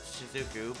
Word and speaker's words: Shizuku: trouble too oh sorry apparently it's pronounced shizuku now i preferred suzuku but whatever yeah arios is looking